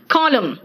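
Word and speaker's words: column: हैं महिमन नहीं कहते कॉलम एंड साइलेंट है ना आप देखो आप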